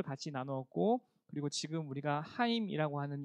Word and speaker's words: 하임: 아세요 하인 네 그렇죠 발음 잘못하면 하이 이렇게 들릴수도 있는데 하임 이라고 해요 우리 v 지라 분들과